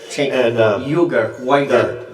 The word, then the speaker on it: Cenk Uygur: Cenk Uygur, I think, is how it's pronounced, right? Cenk Uygur.